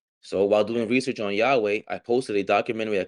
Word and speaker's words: Yahweh: I posted a documentary Yahweh oh that's how you pronounce well he says it at the end yeah because at the original Hebrew didn't have didn't have vowels it was all consonants right YW uh HW is Yahweh so while doing research